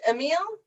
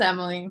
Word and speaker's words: Emily: am i pronouncing quickly or is it a meal no it's emily okay cool i decided